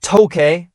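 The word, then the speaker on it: 東京: During the early Meiji period, the city was sometimes called Tokei, an alternative pronunciation for the same characters representing Tokyo, making it a kanji homograph.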